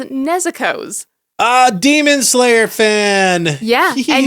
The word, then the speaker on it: Nezuko: I'm so glad I got into Demon Slayer because I learned that you don't put the emphasis on the second syllable. It's not Nezuko. Yes. It's Nezuko. Yes.